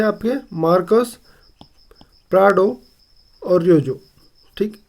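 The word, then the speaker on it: Troyjo: ठीक, प्रेसिडेंट अभी है आपके मार्कस प्राडो और रियोजो। ठीक, ये आपका टी साइलेंट हो तो ये रोयजो।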